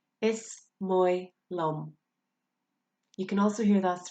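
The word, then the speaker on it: Is maith liom: Is moi lum. You can also hear that phrase pronounced is ma lum.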